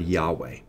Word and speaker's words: Yahweh: In front of Elohim, Moses inserts the word Yahweh. Okay? Let me spell it in English for you.